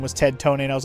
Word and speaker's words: Ted Tonate: Oh yeah, like is it's it's clearly Ted do tonate as in like detonate. It's pretty obvious. Right when they said his name was Ted Tonate, I was like, you mean like detonate?